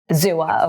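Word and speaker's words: Xooa: NFT photography marketplace built by, how do you pronounce that? Zua? Zua, okay.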